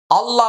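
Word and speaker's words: الله: হামজা লাম জবর আল লাম খারা জবর লা আল্লাহ মনে রাখতে হবে আল্লাহ শব্দের পূর্বে জবর আসছে। এখন কি হবে? আল্লাহ শব্দের লামটা মোটা হবে।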